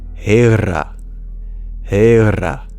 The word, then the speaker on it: hera: But if this was Sanskrit, it would be pronounced Hera. Hera. So there's 3 differences. The H is voiced, so it's not ha, it's ha. And the E sounds as a diphthong, a.